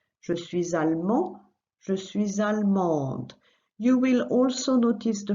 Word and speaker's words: allemande: And the feminine, just add an E. Je suis allemande. So same principle, you add an E and sound the letter that comes before in the feminine.